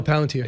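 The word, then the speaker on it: Palantir: I do think Brian um the CEO of of Palunteer said this recently, Palanter, however you pronounce it. No, Palanteer. Yeah, Palanteer uh said um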